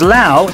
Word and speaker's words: Laos: up who knows where Lao is all right hands up who knew where Lao was last week maybe that's because Lao is spelled l a oos it looks like LA